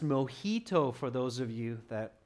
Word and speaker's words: mojito: And it's pronounced mojito for those of you that aren't sure.